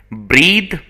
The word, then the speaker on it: breathe: it is a noun breathe is an action so breathe the pronunciation is different breathe and breath okay both are different